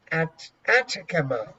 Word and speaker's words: Atacama: desert dried the Sahara the Sahara or the Atacama I really don't know let me let me